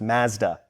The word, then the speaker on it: Mazda: Sorry, in Canadian that's pronounced Mazda. Mazda.